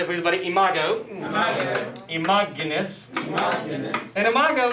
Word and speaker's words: imago: Do not think that's a long O ending. Everybody, imago, imaginus.